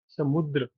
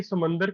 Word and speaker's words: समुद्र: "समुद्र", बिलकुल। क्योंकि हम इसका उच्चारण गलत करते हैं। आप सब "समुंदर" कहते हैं, लेकिन हिंदी में इसे "समुद्र" कहते हैं। यह "समुंदर" नहीं है।